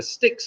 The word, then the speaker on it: Styx: Now, the river Styx, of course, rhymes with the number 6.